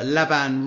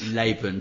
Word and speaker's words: Laban: a lot of fun your name is Laban is that is that how you pronounce it it's actually pronounced Laban laan sorry I knew I'd make a bit of a Comm say leban lion lean you know I'll get them all yeah but it's actually pronounced laan no problem laan okay